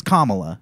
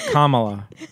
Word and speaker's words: Kamala: country Gaba it's it I think it is uh Kamala not Kamala okay it really the whole thing is like oh you're mispronouncing it no I'm not Mis no one's really mispronouncing it they're putting the emphasis on the wrong syllable right correct and it's